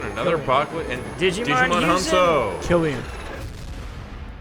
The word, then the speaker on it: Cillian: Killian. Not Cillian.